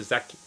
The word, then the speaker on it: Zakynthos: I actually went away with BECCA last year to Zakynthos.